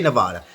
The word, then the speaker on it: Nevada: And I say Nevada. And if there's a problem with that, that's the way I say it. It aggravates me when people say I say it wrong.